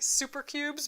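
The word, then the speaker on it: Souper Cubes: But they're called super cubes, like super cubes. But soup is spelled like, SOUP. So super cubes.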